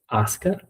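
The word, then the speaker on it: Asuka: And there's a U in her name, though. So that's like, it's spelled differently than it sounds, though, right? Yeah. Yeah. So it's spelled it does not sound the way it's spelled.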